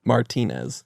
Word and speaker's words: Martinez: Martinez.